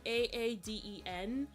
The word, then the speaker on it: Aiden: It's pronounced Aaden.